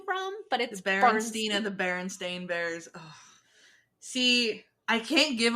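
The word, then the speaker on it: Berenstain: yeah uh I know they're spelled Baron stain yeah and I wish I had copies of what elstein it's barenstein it's 100 percent barenstein like I we had these books when I was little it's barenstein and there's it's there's no a there's no a in their names it's that fight me I don't know whose idea that was but it's barenstein we're gonna get one more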